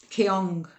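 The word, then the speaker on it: Kyong: Kong. I think it's Keon. K Y O N G.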